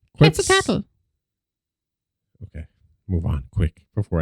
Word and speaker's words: Quetzalcoatl: In Mesoamerica, Viracocha and Quetzalcoatl, they walk among humans. You did not pronounce that at all properly.